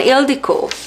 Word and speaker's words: Ildikó: And Ildikó is a Hungarian name. At least that's how I know it. And it is spelled just a little bit differently, but it is still says Ildikó.